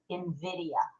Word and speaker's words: Nvidia: is and meel says it's actually spelled n v i d i a but it's pronounced Invidia I looked it up